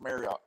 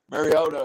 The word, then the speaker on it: Mariota: they would struggle to come up with marcus marriott i can't say his name mariota at this point right yeah you know mariota